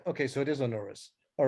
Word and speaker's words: Onuris: Onuris, I think, is the normal pronunciation. Go again? Onuris. Onuris, right? Okay, so it is Onuris.